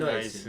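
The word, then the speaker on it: NYSE: 그런데 나스닥이 아니고 그 우리가 나이스라고 발음하나요? 예, NYS 나이스.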